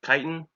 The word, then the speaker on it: chitin: for fungi you have chitin some people say titin I think it's supposed to be pronounced Titan and then for bacteria peptidoglycan